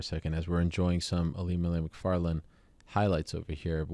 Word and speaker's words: Ilima-Lei: By the way, should I say Ilima-Lei or should I say Ilima? What's the proper way to say your first name? I feel like a bit of a jackass asking you this, but it should be Ilima-Lei, right? Yeah, I mean, okay.